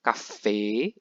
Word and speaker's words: Kaffee: Kaffee itu kopi, bacanya kafe, E-nya agak panjang juga.